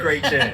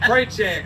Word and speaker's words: Chretien: Chretien. Chretien.